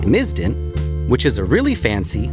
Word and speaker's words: MSISDN: Subscriber Integrated Service Digital Network Number, or MSISDN, (pronounced miz-din) which is a really fancy, long winded way